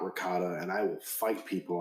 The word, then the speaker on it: ricotta: the cheese it's not ricotta and I will fight people on that I agree with that it's it's it's ricotta cheese it's not ricotta cheese being a music major